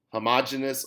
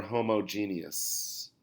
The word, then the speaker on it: homogeneous: using physical means so homogeneous or homogeneous you can pronounce it either way we also if in